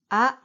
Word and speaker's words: あ: o u e o the first sound is ah open your mouth big ah in English this letter is pronounced a as well like Ace but this letter is used to show the sound ah in Japanese not a so very short sound ah the second sound is